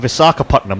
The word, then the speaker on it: Visakhapatnam: How would you like to pronounce that stadium? Visakhapatnam, or Vizag as it's commonly known.